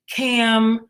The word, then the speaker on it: Kam: say my name right I'm cam with the K with the K Patrice